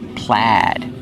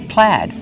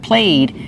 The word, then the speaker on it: plaid: Plaid, we use the short A sound like black cat. Plaid. So the spelling does not match the pronunciation. Remember, use the short A sound. Not played, it's pronounced plaid.